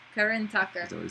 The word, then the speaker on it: Karan Tacker: Karan Tacker. Karan Tacker.